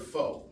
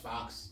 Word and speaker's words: faux: So um you're familiar with the word fo, right? F A U X. Looks like it should be pronounced fox.